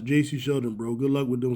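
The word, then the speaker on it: Jacy Sheldon: It's pronounced J.C. Sheldon, bro.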